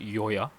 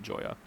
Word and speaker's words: Joya: And, or as this new race eventually pronounces it, they pronounce it Yoya. But Humes and everyone else pronounces it Joya.